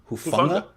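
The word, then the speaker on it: Hufanga: It's a soft G, like in hung, not hard G like gate. Okay. Hufunga.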